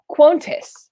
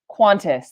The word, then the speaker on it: Qantas: the microwave into harmless quontus i butch dropped that last one drop that last word qantas there you go that's how i should have pronounced that okay all right let's